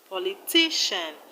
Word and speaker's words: politician: In politician, we have the stress on ti. Politician. In electrician, we have the stress on tri.